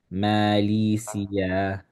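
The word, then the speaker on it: ماليزيا: okay then you have so the word Malaysia this is how you pronounce it in Arabic Malia Malia. Yeah.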